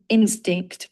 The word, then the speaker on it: instinct: It's relied, not relayed, and instinct with a crisp T at the end.